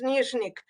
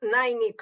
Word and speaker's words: Nizhnik: can say uh nizhnik if correctly it's nizhnik but uh yeah i'm also called nainik which is also fine because i have lived in netherlands and they they always